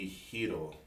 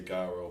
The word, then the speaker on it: gyro: say it what gyro is it supposed to be hito but i say gyro because i'm from chicago and i don't give